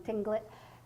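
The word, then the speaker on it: Tlingit: And when it comes to the northwestern tribes, that I always pronounce this wrong, Tinglet, and they call this bird a trickster.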